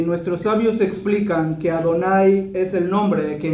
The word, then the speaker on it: Adonai: los sidurim ese nombre ¿alguien sabe cómo se pronuncia? Adonai y Adonai se escribe